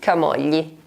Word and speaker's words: Camogli: Who knows if you already know Camogli!